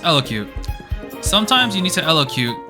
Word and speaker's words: elocute: look this up okay it's pronounced elocute sometimes you need to